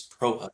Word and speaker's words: Prochut: It's Prochut. The C is silent.